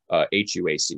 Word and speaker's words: HUAC: After these initial rounds of investigations, the House Un-American Activities Committee, or HUAC, sometimes just spelled or mentioned phonetically as HUAC, the HUAC began conducting